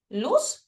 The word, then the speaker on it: luz: Luz se dice luz con s, pero se escribe con z, es decir, luz o edioides también desde forma anatómica.